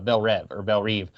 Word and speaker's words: Belle Reve: So it's pronounced Belle Reve in this movie, and it was pronounced Belle Rev in the first one.